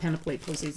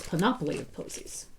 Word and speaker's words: Panoply of Posies: It's not Panoply of Posies, it's Panoply of Posies.